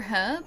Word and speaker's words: herb: Wait, dropping the H. Herb for herb like the spice. Uh, and herb for a name.